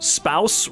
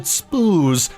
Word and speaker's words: spouse: neutral but it Rhymes wait spouse rhymes with house I always pronounced it spoos in my head why is your language